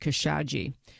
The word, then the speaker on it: Khashoggi: wanted to say and she says pronounced kesaji on my radio show